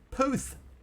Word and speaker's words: Puth: Nerd Gamer, Puth is how you pronounce it.